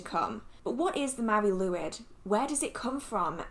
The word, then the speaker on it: Mari Lwyd: The pronunciation said Mari Lwyd, and I'm gonna go with that, I guess.